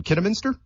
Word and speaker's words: Kidderminster: yeah and forgive me if I butcher the pronunciation Kidderminster that's perfect perfect okay yeah and I did